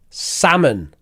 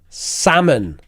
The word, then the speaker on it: salmon: word number one here's how you say it salmon salmon salmon like that salmon salmon there's no uh